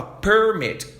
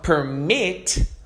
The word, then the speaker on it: permit: Então, quando a gente fala permit, dando ênfase aqui, ó, no começo significa um documento dando permissão para algo, tá? Agora, se eu estou dando ênfase no final, permit. Olha só como muda.